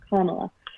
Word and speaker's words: Kamala: I always say it wrong, and I'm trying so hard to remember Kamala.